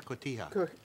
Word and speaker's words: cotija: This Mexican cheese is cojita, I believe, right? Is that how you pronounce it? Cojita or cotija? Cotija.